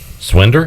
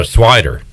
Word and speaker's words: Swider: How do you say his last name? Swinder? Swinder? That's what I would say. Oh, Swider. I was about to say there's no N in there.